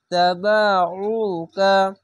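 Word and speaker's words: تبعوك: তাবাউকা, আইনটিকে গলা চিপে মোটা করে পড়বেন। অবশ্যই এই বিষয়টি বারবার কেন বলছি, কেননা এই আইনটিকে আলিফের মতো উচ্চারণ করে নাই, তার জন্য।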